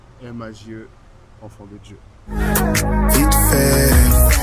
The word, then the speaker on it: M4JE: M-A-J-E, M4J, on sait même pas. Mais en vrai, première question, comment on prononce déjà ton nom d'artiste? On dit Maj.